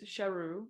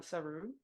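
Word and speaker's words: Sheru: my name even though it was shahu not suu and that's why the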